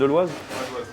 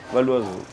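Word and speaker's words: Val-d'Oise: Valdoise. Valdoise.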